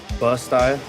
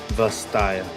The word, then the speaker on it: Vastaya: Bustaya. Did I say it right that time? Bustaya? Or Vastaya with a V. Vastaya.